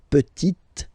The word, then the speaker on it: petite: And then the feminine form, la petite. So I insist because here it's t. Okay, so really you need to make the difference between the masculine form petit and then the feminine form petite.